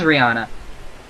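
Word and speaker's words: Rhianna: Oh no, it is Rihanna.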